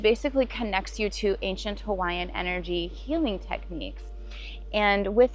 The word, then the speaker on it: Hawaii: It's Hawaii if you are pronouncing it the American way, but traditionally Hawaii.